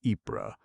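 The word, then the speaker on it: Ypres: That is the reason why for the name of Epra around which the war raged during four years, one may hear the sounds French or Flemish EA and what the English Tommy say, wipers.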